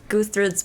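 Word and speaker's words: Gudrid: wrote this down, is Guthries Prophecy. I think that's how you say her name. It's spelled with a D, but I'm pretty sure it's a th sound.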